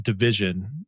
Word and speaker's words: DVSN: Their artist Division, which is spelled DVSN.